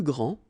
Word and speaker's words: grand: Okay, so phonetically what you can hear is that this first form here for the masculine, grand, so you don't pronounce the final D, will be exactly the same as the plural form for the masculine, grand.